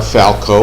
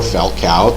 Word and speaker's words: Falcao: cup for 16 years their star Falco or Falcao depending how you pronounce it not available but